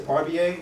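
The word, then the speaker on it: Barbier: the way you work my name is mr parvier it's spelled b-a-r-b-i-e-r there were certain things that really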